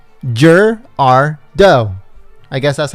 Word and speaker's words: Gerardo: right jur he says pronounce it jur as in jurassic park r as in the letter r and do as in a female deer jur r do i guess that's how